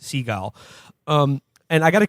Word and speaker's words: Seagal: and his name is steven segal pronounced seagull um and i got